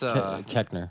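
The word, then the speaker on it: Koechner: Yeah, I know his face, but not how to pronounce his name. That's Keckner. Keckner.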